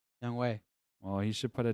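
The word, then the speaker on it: Younghoe: so real quick uh timeout two years 4.5 young hoe 24 mil well young way is a better kicker than zane it's young ho i have young home but it's pronounced young way oh you should put a w in there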